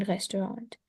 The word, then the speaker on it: Restaurant: Abend essen wir in einem क्योंकि guten पता है इसका रीजन, ये Restaurant. फ्रेंच वर्ड है, फ्रेंच लैंग्वेज से आया है ये। तो फ्रेंच में जो लास्ट लेटर होता है उसको प्रोनाउंस नहीं करते ना।